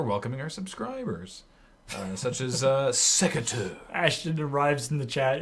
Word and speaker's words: secateur: We're welcoming our subscribers, such as Secateur. Ashton arrives in the chat and immediately, first thing somebody says to him is get back to work. That's not cool. Secateur has subscribed. It's Secretary. not sector. Secateur.